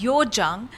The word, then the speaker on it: Hyojeong: So, welcoming her on Mirchi Plus, this is Hyojeong. I pronounced her name right?